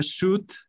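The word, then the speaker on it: should: nada más una palabra esta palabra shoot significa debería vestir y la l no se pronuncia shoot to the beat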